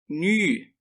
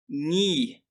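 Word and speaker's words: νῦ: Tal como o seu antecessor, o nu é uma letrinha cujo nome é pronunciado com o biquinho. Se ainda não for capaz de proferi-lo, não se preocupe. Diga simplesmente ni.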